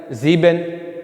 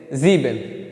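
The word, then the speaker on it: sieben: ठीक है, इसी तरह नीचे भी आएगा जीबेन।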